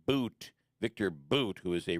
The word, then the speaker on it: Bout: she was exchanged for Victor bout or I should say pronounced boot Victor boot who is